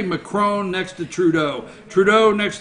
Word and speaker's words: Macron: Macron, you got to say it like that, Macron.